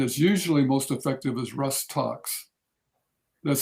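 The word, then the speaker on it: Rhus tox: the remedy then is usually most effective is rust talks that's spelled a-r-g-r-r-h-u-s and second word t-o-x abbreviated usually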